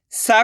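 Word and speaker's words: सि: सा के अंदर छोटी ई की मात्रा लगी हुई है, तो सा का उच्चारण कैसे करेंगे? सी। इतना ही करेंगे, सी। आपको करने के इसी का उच्चारण जोड़ना है। इसका उच्चारण कैसे करते? ई, यानी कि छोटी ई है तो कम खींच के पढ़ते हैं, इसकी मात्रा को भी कम खींच के पढ़ेंगे।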